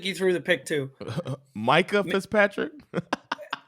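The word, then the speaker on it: Minkah: threw the pick to Micah Fitzpatrick I believe it's pronounced Mika Michael Fitzpatrick had him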